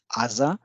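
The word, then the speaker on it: 字: for the kunyami reading of this symbol is Aza Azana or simply na preceded by the rest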